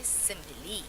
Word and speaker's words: simile: Now remember, how do you say? You say simile.